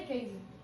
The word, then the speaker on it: Cady: É Katie. C-A-D-Y.